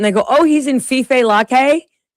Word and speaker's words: Fife Lake: I told somebody that, and they go, "Oh, he's in Fife Lake." That's what the locals call it. Fife Lake.